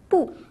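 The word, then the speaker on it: 不: 随便。Aujourd'hui, dans le chinois en bref, nous allons également nous focaliser sur le changement de l'intonation, mais avec le caractère pou.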